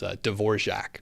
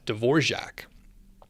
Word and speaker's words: Dvorak: It's called Dvorak. It's actually pronounced Dvorak, I think. But if I'm already telling you about typing with a different keyboard than QWERTY, that's already weird. So I don't need to sound even more pretentious by pronouncing it with the seemingly correct pronunciation.